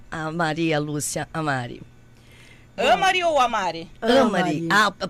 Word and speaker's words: Amary: Amari ou Amari? Amari. Ah, a pronúncia correta.